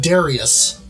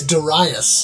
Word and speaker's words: Darius: sort of like um I recently found out I've been pronouncing this name all these years wrong uh you know I've been saying Darius right it's Darius Darius yeah uh and I've